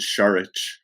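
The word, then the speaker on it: Šarić: But I struggle with Şengün and Şaric. My brain just doesn't want to make an S sound like an SH.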